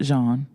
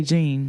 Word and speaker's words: Jean: Jean. Right? Did I say it right? Yeah. Okay. you said that earlier. I was going to say Gene.